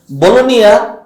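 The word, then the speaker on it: Bologna: হলো ইটালির চট্টগ্রাম বাংলাদেশের চট্টগ্রাম যেরকম বাণিজ্যিক সিটি বলোনিয়া তারা লেখে বলুক না বি ও এল ও জি এন এ কিন্তু উচ্চারণ হয় বলোনিয়া জি এর উচ্চারণ হয় না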